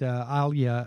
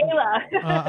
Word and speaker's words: Ayla: Well, on that point, what I'm struck by is, you said that Alia, I can't pronounce her name, Stewart. It's okay, Ayla.